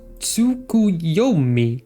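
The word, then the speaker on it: Tsukuyomi: It is pronounced tsukui.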